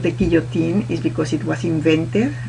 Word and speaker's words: Guillotin: why it's called the guillotine is because it was invented by a doctor called Dr. Guillotin, is pronounced in French, and it was invented